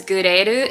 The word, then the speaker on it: GRL: One of my favorite brands is Gureru. It's spelled GRL.